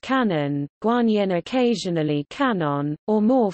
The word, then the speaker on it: 観音: In Japanese, Guanyin is pronounced Kanon, Guanyin occasionally Kanon, or more formally Kanzian, Guanxi Yin, the same characters as Guanxian.